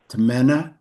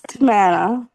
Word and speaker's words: Tamana: Tamena. Am I pronouncing your name right? Yes, it's Tamana.